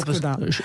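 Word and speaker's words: Škoda: Skoda. Alors les Tchèques, ils disent Skoda. Parce que c'est tchèque au départ.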